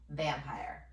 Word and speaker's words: vampire: Now we have pyre. Remember that E that tells that I to say its name, but we don't hear it. Therefore, it is a V-E syllable. Vowel, consonant E, silent E syllable.